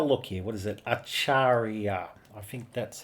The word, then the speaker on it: Acharya: Acharia. I think that's how you pronounce it. Let me look up a pronunciation. So, let's listen to this one. A chariot. Acharia. Acharia.